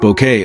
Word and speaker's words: Bucket: the unforgettable character of Hyacinth Bucket, pronounced Bouquet, of course.